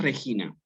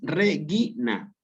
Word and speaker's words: Regina: Entonces aquí no es Regina. Aquí es Regina. La G suena suave como gato, como guiso, como guerra.